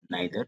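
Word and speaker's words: neither: Distributive pronounce में normally 3 word ध्यान रखना है हमें, ईच, आइदर, इसे इधर भी पढ़ते हैं, नाइदर, नीदर भी पढ़ते हैं।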